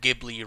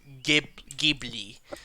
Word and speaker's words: Ghibli: at some point I probably talked about Studio Ghibli, right?